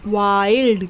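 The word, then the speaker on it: wild: ई पढ़ेंगे तो इसे हम क्या पढ़ते हैं वाइल्ड क्या पढ़ते हैं वाइल्ड आ और ई आ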